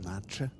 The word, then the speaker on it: nata: Pastel de Natas are pretty good. It's actually pronounced Nacha.